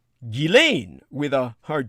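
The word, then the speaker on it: Ghislaine: some years ago but regardless of accent the g is a hard one and the s is silent gillane so that is one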